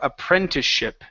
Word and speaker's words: apprenticeship: to apprenticeship here so we're working on this P R sound here in the middle instead of a friend okay a / apprenticeship abren apprenticeship there you go pepper ain't apprenticeship listen